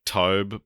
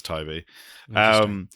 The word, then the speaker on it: Tobe: So it is Toby. It is Toby, yeah. Because it's spelt Tobe. Yeah. I always say in my head Tobe, but it is Toby.